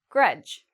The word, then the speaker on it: grudge: Grudge, same rule, D and G together. Grudge.